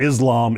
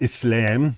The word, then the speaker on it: Islam: It's not Islam, it's Islam.